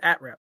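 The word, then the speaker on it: @-rep: Is that pronounced atrep or is it a rep the autonomous one? It is atrep.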